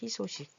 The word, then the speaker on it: 희소식: 근데 여기서 희소식 할 때도 얘도 희소식 이렇게 소리가 나요. 희소식. 희로 소리가 나요. 의소식 이렇게 안 나요.